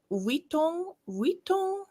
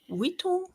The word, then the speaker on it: Vuitton: Vuitton? No. I don't think there's an accent. No, but it's the U and the I combination. Oh yeah, that makes a certain sound.